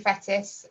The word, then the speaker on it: Fettis: so i am fettis best way to remember how to pronounce my surname is it rhymes with lettuce and i am director